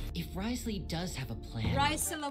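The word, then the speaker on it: Wriothesley: If Risley does have a plan. Risley what? If Risley does. Risley? Bruce Lee, but Rice Lee, every Asian's favorite food ever.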